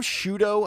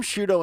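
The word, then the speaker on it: Sciutto: I think it was Jim Jim shudo I think was how you pronounced his last name s CIU t o Jim shudo and Poppy harlo were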